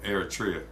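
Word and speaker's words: Eritrea: Um, your family's immigration story was connected to your father's sacrifice and liberation of Eratria.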